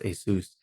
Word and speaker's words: Asus: Logitech speaker and the monitor is actually an Asus I know people call it ASIS, but actually Pronounced ASIS so it's the asus monitor if had that since 2011 I believe so it's about No, 2010.